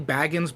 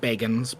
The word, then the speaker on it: Bagans: Is it Bagans or Baggins? So it is technically Baggins, but he pronounces it Bagans because he is very particular, but he also likes to mispronounce words.